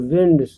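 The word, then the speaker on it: wind: बैठे थे, strong विंड्स, यहाँ विंड पढ़ा जाएगा, और विंड्स मीन्स होता है हवा, और यही सेम स्पेलिंग जो है वाइंड भी पढ़ा जाता है, जो कि एक वर्ब है और उसका मीनिंग होता है लपेटना।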